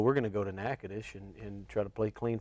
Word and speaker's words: Natchitoches: You got the name of the town pronounced right. Natchitoches.